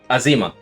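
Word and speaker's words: Azeyma: that'll do tell me the correct by azima yes yes okay I'll say her for last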